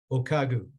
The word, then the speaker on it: O'Kagu: you say your last name by the way okagu okagu did I say it right that's correct yep